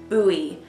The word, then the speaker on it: Buoy: And this is number 2415 and it's called Holla at Ya Buoy. Wow, that was really not to, it was really hard not to say boy, but it's spelled like a buoy in the water.